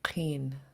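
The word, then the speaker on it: ḵeen: Qeen. Yeah, it's pronounced in the back of your throat since it's underlined.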